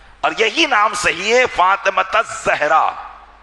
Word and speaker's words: فاطمۃ الزہرا: یہی نام صحیح ہے فاطمۃ الزہرا یا فاطمۃ الزہرا، فاطمۃ الزہرا نہیں بلکہ فاطمۃ الزہرا، یہ تلفظ آپ صحیح کریں تاکہ ان کی صحیح